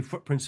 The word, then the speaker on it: footprints: We don't drop the T because we don't pronounce it when we say footprints in the snow.